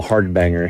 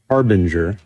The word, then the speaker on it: Harbinger: I always call them, we call him hardbanger here, but his name, you know, I think it's actually pronounced Harbinger.